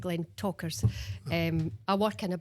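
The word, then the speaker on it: Glentauchers: Glen Ters because of the ch. So, I was having a we look into this one and it's Glen Talkers. And that's when you think, gosh, how difficult can they make this? We're ch and and then we're turning the ch into a K.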